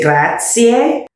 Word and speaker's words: grazie: Do pronounce the E at the ends of Italian words. So for instance, I said latte. When you say thank you, you say grazie.